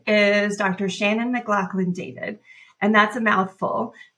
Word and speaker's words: McLaughlin: We pronounce it Mclaclin even though it looks different.